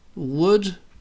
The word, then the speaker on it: would: Would sounds like would. You know, like chopping a tree down. A tree is wood.